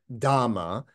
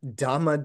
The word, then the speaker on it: Dhamma: The first part is our Dhamma, which is the Pali pronunciation of Dharma, right?